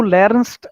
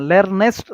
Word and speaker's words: lernst: हाँ, lernest मत बोलो, lernest हाँ, बोला ना तो NEST आता है, नहीं ऐसे. हाँ, ऐसा नहीं, तो learns ठीक है, थोड़ा अभी Lernst, मैं बोला ना, लेकिन रॉन्ग प्रोनाउंसिएशन करो मत ऐसा, okay, lernst. so that is correct, okay।